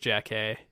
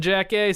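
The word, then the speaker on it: Jackée: I think it's pronounced Jack A.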